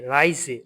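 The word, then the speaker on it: Reise: রাই এস এ যে রাইজে রাইজে মানে হচ্ছে ভ্রমণ এর এ আই রাই এস এজে রাইজে ভ্রমণ এইযে এস এর উচ্চারণটা কি হবে সবসময় বর্গীয় বর্গীয় জ এর মত হবে এস এর উচ্চারণটা রাইজে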